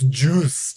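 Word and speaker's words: Jüs'd: It's juus with the German umlad. So, it's juiced.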